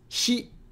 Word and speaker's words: ひ: Hi. It's the English pronoun he. That's very good. In other words, it sounds like he in heat.